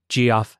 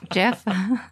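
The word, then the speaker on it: Geoff: grew up calling him g off Pate yes Jeff yeah I've been corrected million times it's not g off Tate it's Jeff Tate but again wow I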